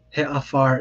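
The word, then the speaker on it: הֶעָפָר: run into, is that sometimes the definite article will be vocalized with a segol, so a he instead of a ha. So he afar is the example that is given here, which means sort of like the ash.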